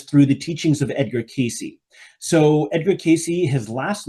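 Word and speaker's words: Cayce: So, I do this once a year, and I learned about this through the teachings of Edgar Casey. So, Edgar Casey, his last name is spelled C A Y CE.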